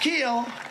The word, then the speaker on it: Kuehl: It's pronounced Keel, but it's spelled Kuehl.